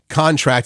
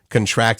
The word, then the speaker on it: contract: yes wow okay hey when a word has multiple meanings in virtually all cases the noun form stresses the first syllable and the verb stresses the L for example contract is a noun contract is a verb I didn't know that